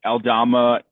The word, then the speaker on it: Aldama: and interior, like Aldama is fine. That's how you say it.